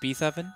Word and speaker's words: Beethoven: It's pronounced Beethoven.